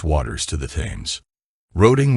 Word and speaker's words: Roding: Roding was sometimes pronounced Rowing, a name going back to Anglo-Saxon times when the river was known as Froda.